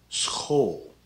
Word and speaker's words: school: say this one licht the sch is like an s and a g sound mixed together so this is pronounced school in this word the